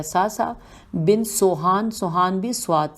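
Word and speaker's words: صعصعة: کی ہجے کرتے ہیں۔ سے نہیں، یہ تو سواد ہے، سواد عین سواد عین ہے، یہ ہو گیا ساسا۔ بن سوہان، سوہان بھی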